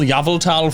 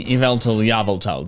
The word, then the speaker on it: Yveltal: And in fact, it has been so ingrained in my head that when I hear people pronounce it Yveltal or Yveltal, whatever, my gut reaction is, wait, that's wrong.